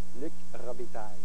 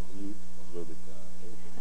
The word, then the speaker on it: Luc Robitaille: I'm here with the slightly difficult-to-pronounce Luc Robitaille, or how do we say it in French? Luc Robitaille. Luc Robitaille. Well, that's pretty good. He said it right.